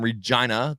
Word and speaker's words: Regina: Hey, Gage from Regina, the city that rhymes with fun.